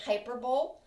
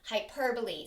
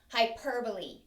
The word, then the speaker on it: hyperbole: hyperbole it looks like you would say it hyperbole but that's not the correct pronunciation the pronunciation is hyperbole so say that with me ready hyperbole a hyperbole is just a big exaggeration all